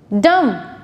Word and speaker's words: dumb: It's not comb, thumb, dumb. B is silent, so the correct pronunciation of this word is comb, thumb, dumb.